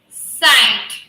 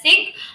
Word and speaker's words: sigh: That is high, might, fight, sight, SIGH, sigh, sigh. Yeah, many people pronounce it as sick, but actually it is not sick, it is sigh.